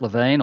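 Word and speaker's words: Lewin: in the field is Kurt LaVine or Kurt Len is depending on your pronunciation yeah and he wrote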